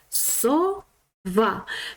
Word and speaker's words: сова: Це слово має два склади. Буква С буде на початку слова. І перший склад буде со. Бачите, буква С одна риска. Значить, вона буде тверда ця приголосна буковка с о сова. І наголос буде на остатню голосну, на другий склад.